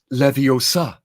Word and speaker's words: Leviosa: How many times do we have to tell you it is pronounced Leviosa?